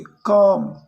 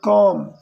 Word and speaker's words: calm: When everything was calm again, calm यानी शांत, ठीक है, साइलेंट, तो यहाँ पर एल साइलेंट है, एल को आप नहीं पढ़ोगे, calm, इसको पढ़ोगे calm, ठीक है।